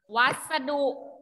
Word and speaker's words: วัสดุ: นะ คะ เรา ก็ จะ เรียก มัน ว่า วัสดุ อ่าน ว่า วัสดุ นะ คะ วอ อะ วัด